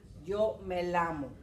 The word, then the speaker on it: llamo: Remember que esta pronunciación es like ya, ye, ye, yo, you.